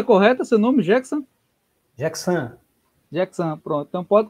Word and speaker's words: Jackson: É pronúncia correta seu nome, Jackson?